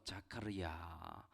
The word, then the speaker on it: 자카르야: 원어로는 자카르에다가 하나님이라고 말하는 야가 붙어서 자카르야. 한국 발음으로 바뀌다 보니 스가랴라는 이름으로 되었습니다.